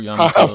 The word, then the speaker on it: Yamato: Yamato? Yeah, Yamato.